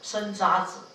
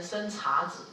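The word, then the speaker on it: 生查子: 注意哦，不可以念成生茶子、生渣子啊、哦，好像我们讲那个永玉月，在词里面那个乐啊，都在念成月啊、哦，这个字念生渣，不可以念生茶子啊、哦，像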